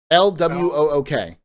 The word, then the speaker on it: LWOOK: LWOOK. L-Walk. All right, let's go. I thought it was L-Walk. L-Wook. Yeah, that's what I said before. He said that was wrong. L-Walk is wrong, is what he said.